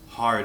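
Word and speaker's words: ح: of your throat WR this is often referred to as a hard h a hard H if you will practice makes perfect listen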